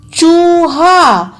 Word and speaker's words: चूहा: चूहा, देखिए चूहा, तो सबसे पहले आप ये देखिए कि किस वर्ण पर कौन सा स्वर निकल रहा है। च के साथ ऊ का स्वर है तो हम बड़े ऊ की मात्रा लगाएंगे।